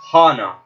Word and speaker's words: Hannah: She said you can call me Hana. Hana. It's spelled Hannah. Hana. She said Hana.